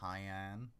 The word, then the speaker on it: Hyun: Hyun, typically pronounced Hyan, like cyan.